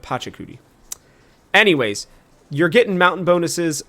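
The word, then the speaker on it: Pachacuti: Uh, thank you to the person in the comments who reminded me how to say this name because I kept calling him Pakudi instead of Patchakudi.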